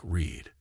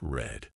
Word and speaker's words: read: read read in the present is pronounced like read but in the past it's red but in the past